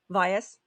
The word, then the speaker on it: Vyas: how do you say your last name vias vias vias i wasn't 100 sure which is why i